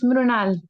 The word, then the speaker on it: Mrunal: मुरुनल, मुरुनाल मुरुनाल pronunciation सही है? Yes, Mrunal. मुरुनाल । Good evening to everyone. मैं मृणाल, मैं पुणे से हूँ।